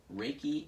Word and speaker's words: Reiki: So okay, Reiki energy healing.